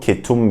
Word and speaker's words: ketum: It kind of sounds like the state of ketosis where you don't eat any carbohydrates and your body starts burning fat.